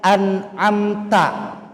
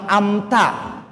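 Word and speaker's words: أنعمت: Yang kedua, pada kalimat an'amta masih banyak yang terbalik ternyata, Pak. An'amta. Bahkan di beberapa musola yang saya dengar amta.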